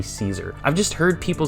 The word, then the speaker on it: Cesar: do you say this is it Cesar Ruiz or is it no it's c-e-s-a-r it's definitely Caesar I've just heard people